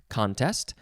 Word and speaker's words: contest: contest and it is pronounced with the emphasis on the first syllable contest noun from 1630 one